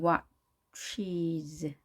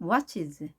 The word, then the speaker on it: watches: watches. 아에 강세가 있겠습니다. watches, watches.